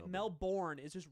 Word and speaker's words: Melbourne: So wait, you're from Melbourne?